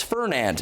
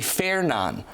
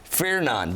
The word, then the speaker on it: Fernand: might say oh it's Fernand it's actually faeron feron the D is not pronounced in this uh Imelda